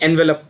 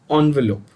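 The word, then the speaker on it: envelope: ऑन्वेलोप, जिसको आप लोग, हम टिपिकल इंडियन एनवेलप बोलते हैं. It's pronounce as ऑन्वेलोप.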